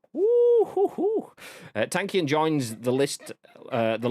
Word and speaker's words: Tankian: downs front man surge tankian is that you pronounce it tankian yep are you i've i've never actually known